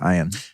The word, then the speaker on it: Ian: why is your name spelled like ian but pronounced iron because it's phonetically correct